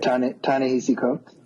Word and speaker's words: Ta-Nehisi Coates: Ta-Nehisi Coates.